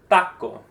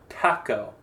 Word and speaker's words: taco: And ideally, you shouldn't have a puff of air for the T or the C taco because we don't pronounce a T with a puff of air either in Spanish. Not taco.